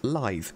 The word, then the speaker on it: Lythe: Sight of Grace, and assuming this fort is pronounced the same as Blythe, you'll currently be looking at Fort Lythe, and we'll be covering